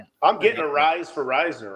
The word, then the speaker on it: Risner: Uh, Cincy James says it's Risner, which honestly that's how it's pronounced. Everybody I know around here, and there's several people I know, it's all pronounced Risner, and it's spelled the same way.